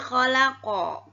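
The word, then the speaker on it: خَلَقَ: Ini ada khalaqa. Ketika dibaca wasal, tidak diwakafkan, tidak berhenti, dia tidak menjadi qalqalah. Tapi ketika membacanya diwakafkan, maka jadilah dia qalqalah.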